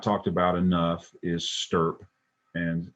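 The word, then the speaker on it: STURP: talked about enough is stirp and and stirp is an acronym they put a u in there to make it easy to pronounce but it's the shroud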